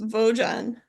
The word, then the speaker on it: Vogen: It is pronounced Vogen, and it's for value objects generator.